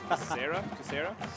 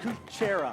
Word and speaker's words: Kucera: And our assistant coaches, we have Eli Copen, Quentin Burgess, Mitch Kucera. Sorry about that. It's Mitch Kuchera. Kuchera.